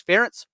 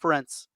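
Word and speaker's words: Ferentz: that we say yes get the last name right it's ferrets rhymes with parents it's not friends we will bring that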